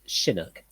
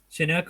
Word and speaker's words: Chinook: it's almost like the Chinook. Actually, Wolf, it's pronounced Chinook. Chinook or Chinook, Oh, whatever.